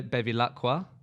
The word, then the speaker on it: Bevilacqua: I'm joined by Ricardo Bevilacqua. That was okay, wasn't it? The pronunciation.